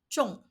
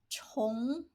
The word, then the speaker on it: 重: This Chinese character has two different pronunciations. One is zhong, zhong, and another is chong, chong.